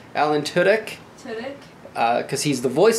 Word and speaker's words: Tudyk: Tudyk. Alan Tudyk.